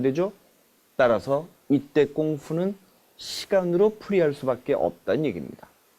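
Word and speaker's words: 功夫: 사실상 표준어는 꽁푸지만 당시에 이런 시대적 상황 때문에 오히려 서양 사람들에겐 표준어인 꽁푸라는 발음보다는 쿵푸라는 발음으로 더 익숙해진 이유가 바로 이 때문입니다.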